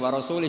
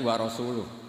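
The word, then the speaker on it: ورسولُه: Allah itu terbebas, tidak urusan dengan orang musyrik, wa rasulih juga tidak ngurus Rasulnya. Kalau sama Rasul saja tidak ngurus, apalagi sama kita. Sama Sayyidina Ali dibenarkan yang benar bacanya itu wa rasuluh.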